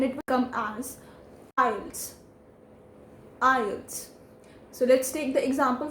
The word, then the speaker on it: IELTS: wrong it is not eyelids it is ielts the t sound in it we have to minimize it and we don't need to emphasize the t sound and it will come as files ielts so let's take the